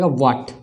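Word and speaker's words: what: लेते हैं जैसे की व ह ए टी तो इस वर्ड में तो हम लोग यहां पर भी ह का उ नहीं करेंगे क्या व्हाट व्हाट होगा दूसरा देखते हैं व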